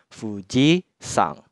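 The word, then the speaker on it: 富士山: bersama nama gunung tersebut contohnya di sini Fuji maka kanji gunungnya akan dibaca sang jadinya Fuji sang yang artinya Gunung Fuji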